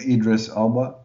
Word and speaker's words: Idris Elba: it's it's PR yeah it's pronounced as far as I understand I could be wrong as well but Idris Elba okay now we could